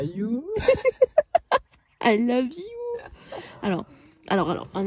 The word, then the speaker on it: Hjo: Alors You, ça s'écrit H-J-O. Ouais. Et au début, avant que tout va nous explique comment ça se prononçait, on disait je.